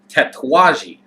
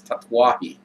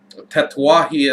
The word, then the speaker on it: Tatuaje: I was first looking into cigars, I was pronouncing this Tatuaje. And I know that a lot of people end up calling them tats because they don't want to try to pronounce it, but apparently it is Tatuaje.